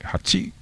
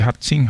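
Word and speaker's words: はち: Ang tawag, ang pagbigkas ay hachi. Hindi hatsing ha. Hachi lang.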